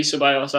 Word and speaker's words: Ceballos: Celibos. I've seen that somebody was writing the piss out of you there for the pronunciation. I know. I think it might be Ceballos, actually. Ceballos.